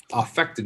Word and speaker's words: affect: that's the verb now there are occasions where you will use affect as a noun and it's actually pronounced affect when it's a noun and it refers to